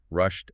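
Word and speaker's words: rushd: The sources define two distinct paths, rushed and gay. Let's break those down. Rushed. It sounds like the English word rushed, but I assume it means something totally distinct.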